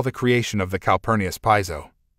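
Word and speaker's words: Piso: creation of the calpurnis Piezo pronounced peso family who were Roman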